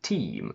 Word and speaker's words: teem: the past as clothing we can also say to team spelled with doubly but pronounced exactly the same as football team and in august beaches